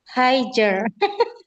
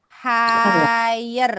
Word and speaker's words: higher: Higer. Belum. Oh ya, no higer. G-nya hilangin, Bu. G-nya hilangin. Bacanya higher gitu.